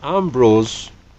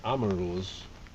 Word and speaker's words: Amorose: I said it was Ambrose, but it actually is Amorose.